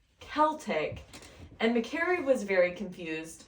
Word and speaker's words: Celtic: oh yeah and and it's so it's technically pronounced Celtic and McCary was very confused because she was